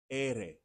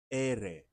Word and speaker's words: ere: So the letter R in Spanish is pronounced ere, ere, ere, right?